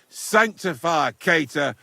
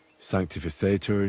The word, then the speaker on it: sanctificetur: You're saying it wrong. Listen. It goes like this. Pater Noster, qui es in celis, sanctificetur nomen tuum.